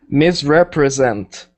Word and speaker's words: misrepresent: I think you were saying misrepresent, but I want you to say there's two stresses in this word. We have miss and then zent. Misrepresent. Misrepresent. We have two stresses.